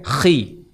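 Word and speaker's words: Χ: X dalam bahasa Yunan dibacanya khi oh ulangi.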